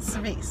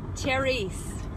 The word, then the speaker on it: cerise: That's right, cerise. Actually pronounced cherise. Cherise. Just to let you know, someone from Louis Vuitton on the hotline said cherise.